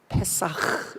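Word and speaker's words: פסח: 그래서 페사흐 이렇게 읽거든요. 히브리 발음이 6월이라고.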